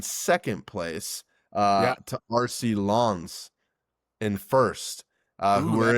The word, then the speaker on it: Lens: I tried to pronounce it correct because I know I I think that's just pretty close. I could have said lens, but I know it's not No, that. So I think it's Lens.